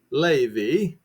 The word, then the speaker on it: Levi: And the sons of Levi, that's how it's pronounced, gathered themselves together unto him.